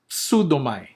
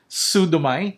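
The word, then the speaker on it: ψεύδομαι: pseudos, pseudos, psustes, psustes, pseudomai, pseudomai. Okay? So the P there in the beginning, it's pronounced. It's not pseudomai, it's pseudomai. Got that?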